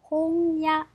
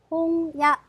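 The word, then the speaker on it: 本屋: 자, 그러면 홍 나왔으니까 그러면 책방 서점은 홍야, 홍야. 자, 마찬가지로 야, 와, 행 앞에 있기 때문에 자, 아, 응, 이응 발음이 됩니다.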